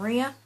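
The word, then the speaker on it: Mriya: um as you can see the a225 um Ria as it's pronounced and up here as you probably saw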